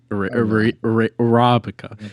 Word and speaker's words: Arabica: Getting the emphasis on the right syllable. Oh, that's always gets me. You really got to stress the second syllable.